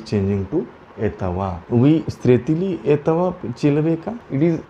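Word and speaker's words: этого: We stretili etava chilaveka.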